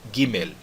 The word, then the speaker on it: Gimel: Eu digo Gimel e pronuncio esse L aqui como se fosse um L mesmo e não como se fosse um U.